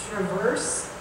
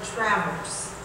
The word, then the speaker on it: traverse: Okay, this word has two pronunciations. It could be traverse or traverse.